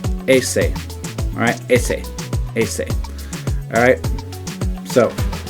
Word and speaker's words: ese: That's how you say in English, but in Spanish it's ese. Ese.